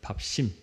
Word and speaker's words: 밥심: 밥심 발음할 땐 심자로가 이렇게 쌍시옷이 들어가 있더라고요. 밥심 영적 밥심 아 2주 전에 땅에 대한 이야기를 했었죠.